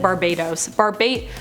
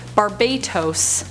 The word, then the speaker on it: Barbatos: I said it Barbados. Barbatos. Tos. I can't say it like the place.